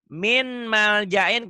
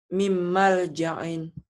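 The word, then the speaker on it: مِن مَّلْجَإٍ: Min malja'in, kalau baca min malja'in berarti? Jadi idhar. Jadi idhar, benar gak? Enggak, salah. Salah, itu salah. Enggak, bukan enggak salah. Salah ya, kalau enggak salah berarti benar. Itu salah. Harusnya gimana bacanya? Mim malja'in. Mim, ditahan ya.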